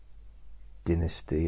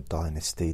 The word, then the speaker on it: Dynasty: Crest Dallas of course Dynasty or Dynasty depending on how you want to pronounce it uh what other ones